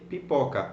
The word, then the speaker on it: pipoca: s so P pakka so you will stress pop so you say pipoca wipe a parka because we tend to stress the second last syllable in Portuguese okay well the other